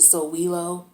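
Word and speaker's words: Sowilo: have this symbol here which is called the so wheelo it's spelled s-o-w-i-l-o and it talks about the sun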